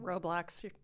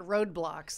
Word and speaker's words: Roblox: roadblocks all the time did i say it right roblox am i getting it wrong it's not roadblocks like there's a roadblock in your way on the way to the store what is it